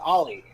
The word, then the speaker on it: Ole: Thought it was pronounced Ole Anderson. I'm gonna just call him Ole Anderson. It's Oli. I- It's like Holly. Ollie. It's like Holly without the H.